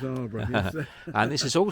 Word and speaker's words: Alburgh: Yeah, it's spelled Alburgh, A-L-B, Yeah. Alburgh. Yeah. It's Arborough. That's right, it's yes. Alburgh. So Russell says. It is, trust me, it's Arborough.